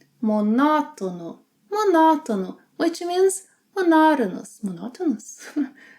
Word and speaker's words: monótono: When a syllable has an acute mark on, it means that syllable must be stressed. Yeah? Written marks are not always, are ways to show us that a word is not following the standard pronunciation pattern. So, anytime you see a written mark on a word, stress the syllable that has it on.